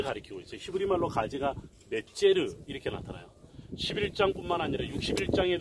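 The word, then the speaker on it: נצר: 히브리 말로 가지가 넷제르 이렇게 나타나요. 11장뿐만 아니라 61장에도 보면 가지라는 말, 즉 오실 메시아에 대한 심볼로 가지, 넷제르라고 말이 나왔다. 영어에서 오늘 네처라는 영어식 발음으로 많이 이야기하는 소위 넷제르라는 이름을 가진 사람이 많은데 그게 바로 나사렛 사람이다.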